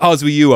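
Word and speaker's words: Oswiu: right pronunciation highly contestable i'm going with oz will you are you sure it's not ozzie you oh o-s-w-i-u uh so this is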